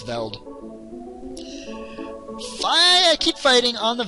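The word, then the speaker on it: Veldt: in the belt or that's a silent t but it's veld fire keep fighting on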